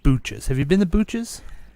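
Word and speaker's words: Booches: like Butch's but pronounced Booch's? Yes.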